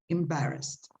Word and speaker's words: embarrassed: Be careful with the pronunciation of that ending, please. Embarrassed, okay? With a T at the end.